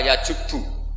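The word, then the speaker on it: يجبّ: Itu bacanya bukan yajibu tapi apa? Yajubbu a yaq lah.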